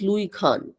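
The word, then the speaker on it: Louis Kahn: commonly it's called as Loui Khan we normally don't pronounce the S okay located Ahmedabad Gujarat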